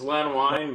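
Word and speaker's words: Len Wein: and Lenway I think that's how you say his name. Lenway I think it's Len Wine but Len Wine. Yeah, somebody told me once, I think, don't whine about it.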